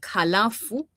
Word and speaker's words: halafu: So many students, many Swahili learners usually avoid pronouncing H. That's what I have observed. They avoid pronouncing H. So in something like halafu, they will say I've noticed that as well. they will say instead of halafu and it's not only